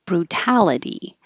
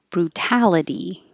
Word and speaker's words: brutality: and we started with brutality brutality the first T stays a t even though it's between two vowels the the U and the a because it's in the stressed syllable so a lot of